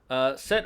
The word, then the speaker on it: Set: Set or Seth, however you want to say it or spell it.